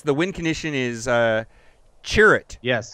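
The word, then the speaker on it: Cere: wind condition is uh cherit yes however you say his name we we we've decided it's Cher rather than sherut we've decided yeah if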